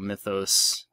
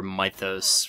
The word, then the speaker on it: mythos: moon is based on the cottulio mythos or mithos for those of you that want to pronounce it wrong cultist cultist apostle that's